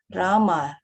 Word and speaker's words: rama: pronounced krishna pronounced krishna and rama rhymes with drama are sanskrit words hare